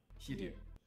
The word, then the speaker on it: Hiryu: Hiryu? Yeah, you pronounce the H. So, he. He. And then, ryu. Ryu. Ryu. Ryu. Yeah. Hiryu.